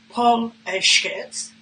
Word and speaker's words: Paul Skec: Paul Skec, pronounced Paul Skec, is a bipedal carbon-based life form who grew up in the unfashionable outer western fringes of Melbourne.